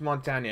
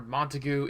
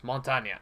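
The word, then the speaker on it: Montagne: broken down and said it's not Mont or monu it's Montana it is French for Mountain so usually they always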